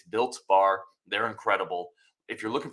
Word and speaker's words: Built Bar: have mispronounced it once I called it Bill bar and somebody was trying to find Bill bars it's built bar they're incredible if you're